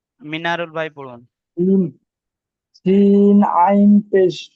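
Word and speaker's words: عين: জি, অনেকের আইনটা উচ্চারণ হচ্ছে না, খেয়াল করুন, আইন গলার ভিতর থেকে।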